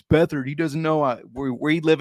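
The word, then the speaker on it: Beathard: get CJ beat hard it's bethard but I like saying beat hard yeah before somebody's like oh it's bethard he doesn't know we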